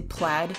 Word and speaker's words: plaid: cropped red pled shirt pled I meant to say plaid I said play for most of my life I'm learning not to pronounce it that way anymore okay her shirt also